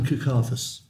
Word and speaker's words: Kukathas: I can't pronounce his name. Kukathas, is it? Chandran Kukathas.